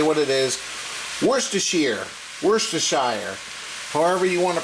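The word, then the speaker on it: Worcestershire: have to say what it is wor AER worshire however you want to pronounce it no matter how I say it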